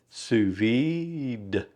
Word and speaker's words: sous vide: And you are from what I understand make that D suvid.